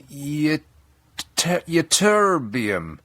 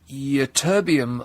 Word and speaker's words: Ytterbium: Ytterbium. this is how it's spelled.